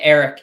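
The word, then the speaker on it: Arik: Is it Eric? Eric Armstead. Yeah, Eric. You pronounced it right. It's just spelled with an A.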